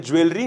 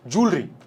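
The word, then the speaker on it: jewellery: He wanted to burgle the ज्वेलरी lying in the safe, जूलरी, ठीक है, क्या जूलरी, pronunciation क्या होता है इसका, जूलरी होता है ना।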